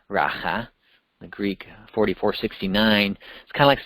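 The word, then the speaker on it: ῥακά: family rata which even that Greek word is pronounced raha the Greek 4469 kind of saying you empty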